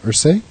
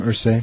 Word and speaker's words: Irsay: Irsay? Yeah, I think so. Jim Irsay?